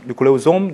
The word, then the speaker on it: 뉴클레오솜: 뉴클레오솜 또는 뉴클레오솜, 솜과 좀의 중간 발음.